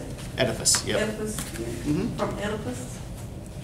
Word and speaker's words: Oedipus: Oedipus, yep.